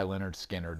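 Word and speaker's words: Lynyrd Skynyrd: set the stage and that is pronounced by leonard skinner this is a record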